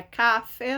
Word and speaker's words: café: Não é café, não. Café. Acento agudo na última sílaba.